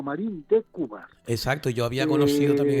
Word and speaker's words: Marín de Cubas: sí, no es Marín y Cubas, como hay mucha gente Sí, que erróneamente lo pronuncia, sino Marín de Cubas.